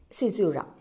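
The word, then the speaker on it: caesura: is clear and um the next one is sizura c-a-e-s-u-r-s ura that is the pronunciation run online exam writer uh the in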